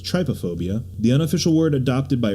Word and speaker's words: trypophobia: Do you have, I want to say it's trypophobia?